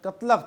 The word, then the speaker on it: تغلق: اپنی حکومت بنائے رکھی۔ تغلق لفظ کے متعلق روایت ہے کہ یہ ترکی لفظ قتلق تھا، جسے ہندوستانیوں نے تغلق کر دیا۔ بعض لوگ اسے قتلوں کے تلفظ کے ساتھ بھی ادا کرتے تھے۔ اس خاندان کی سب